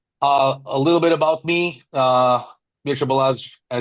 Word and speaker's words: Mircea: It's Mircea, but honestly, Mircea?